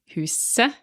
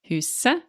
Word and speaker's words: huset: If it's the house, it's et, huset pronounced just e, huset the house.